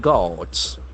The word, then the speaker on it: guard: To deploy private guards. Guard. G-U-A-R-D. The letter U is there, Guard. but it is not at all used in that way.